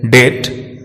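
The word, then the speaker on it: debt: बी अक्षर दो case में साइलेंट रहता है, जब बी को वर्ड में एम के बाद रखा जाता है तथा जब बी को टी से पहले रखा जाता है। इन दोनों ही परिस्थितियों में बी साइलेंट रहता है, जैसे डेट, डॉट, डेटा, बॉम्ब, थम।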